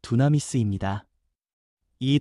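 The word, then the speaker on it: δύναμις: 권능이라는 말은 헬라어 발음으로 두나미스입니다.이 단어는 폭발적인 능력, 생명을 살리고 죄를 끊고 두려움을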